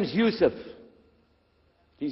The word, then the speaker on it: Yusuf: we'll work on it inshallah my name is Yousef can you say Yousef say Yousef you're very good I wish You'